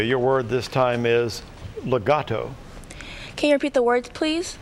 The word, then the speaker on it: legato: please it's an adverb legato am i pronouncing it correctly legato that sounds correct la got legato el